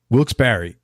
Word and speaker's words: Wilkes-Barre: do you pronounce that it's two words that wilkes-barre wilkes-barre Scranton it's a VAR re though right it is every time I see